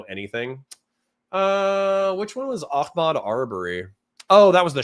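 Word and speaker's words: Ahmaud: It's not Akmad. I I'm overp pronouncing it. Akmad Arbory killing was okay. He doesn't know anything. Uh, which one was Ahmad Arbory?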